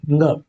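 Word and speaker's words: ङ: ये है क वर्ग का 5वां अक्षर और इसका उच्चारण है ng। छोटी स्कूलों में यही ड़ बताया जाता था, क ख ग घ ड़, जबकि ऐसा नहीं है, ड़ उत्क्षिप्त में है और इसी वजह से बच्चे लिखते भी गलत।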